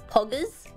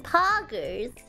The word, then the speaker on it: Poggers: Because if I say it with an Australian accent, it's Poggers. Poggers. But it sounds better! It sounds better! It sounds better in American. Poggers.